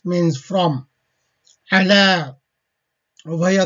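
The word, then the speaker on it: على: Ala, over here 3 letters, although pronouncing is only 2 letters. Ala, ya is the silent here.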